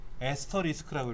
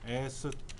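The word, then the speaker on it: asterisk: 본래 명칭은 에스터리스크라고 읽어요. 에스터리스크. 에스터리스크라고 읽어요.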